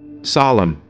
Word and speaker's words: solemn: Solemn, here N is silent.